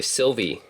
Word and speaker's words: Sylvie: Okay, Sylvie. Okay, that's how you pronounce it. I thought it was like Ailey or something like that.